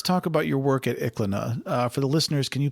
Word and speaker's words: Iklaina: Well, let's talk about your work at ICLNA. For the listeners, can you please summarize what you're doing there and why it's important today? Sure. So ICLNA, and it's spelled IKLAINA, is an ancient Greek site of the Bronze Age.